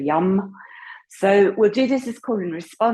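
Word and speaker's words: yam: So we would spell it Y-A-M, but we pronounce it Y slightly with a U-M, like a YUM.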